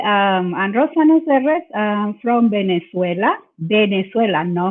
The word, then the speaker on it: Serres: Serres. Serres, yeah, ¿verdad? Yes. A mí algunas veces se me pone difícil la doble R, porque trato de decir Serres, pero no Serres porque otro diferente tipo de palabras.